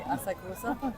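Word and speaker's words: 浅草: And today we have been to the Imperial Palace and the gardens, and now Asakusa. Oh, If I'm very pronouncing nice. it correctly, Asakusa.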